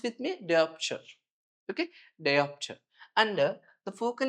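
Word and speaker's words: diopter: Pronounce with me. Deopture.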